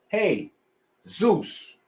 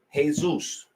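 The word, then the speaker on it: Jesús: hear what I'm saying this word is a Latin word pronounced this way by Latin speaking people non-latin speaking people pronounce this like this Jesus Jesus Jesus Jesus this is how non-latin people pronounce that word Latin speaking people pronounce it this way Jesus Jesus hey Zeus Hees Zeus I'm not a Latin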